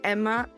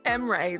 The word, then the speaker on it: Emre: most interesting right now, being Emra, and Freya, pronounced Freya. I love that I got Freya right, which understandably is the one that you gave me the pronunciation for, but I couldn't do Emra. Emre, there we go.